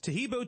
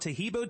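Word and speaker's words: Taheebo: day orders everywhere else arrive in two days tahibo tea is great for healthy people because it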